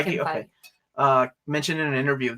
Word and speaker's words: Feige: Feige mentioned, is that how you say his name? Feige. Yeah, Feige.